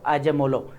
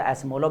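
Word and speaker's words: Acemoğlu: Darren जो है वो अजेमोलो। अब उनको यही प्रोनाउंस किया जाता है, अमेरिकन में अगर देखा जाए तो एस्मोलो भी बोला जाता है, तो उनको भी हम यहाँ पर डिस्कस करने वाले हैं, ठीक है।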